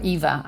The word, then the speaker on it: Eva: Well, the full name I go by two because it's either Ava or Eva.